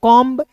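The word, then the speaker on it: comb: देखिए सी ओ एम बी को कॉम्ब बी ओ एमबी को बम टी एच यू एमबी को एमबी को थंब और डी यू एमबी को क्या पढ़ेंगे? डम पढ़ेंगे।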